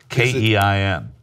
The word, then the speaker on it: Keim: K-E-I-M. Wow, okay, like I had Keim. C-H-Y-M-E, like well, time. Right. So Steve Keim is my Turk of the Week. Like time as in the spice, not as in and the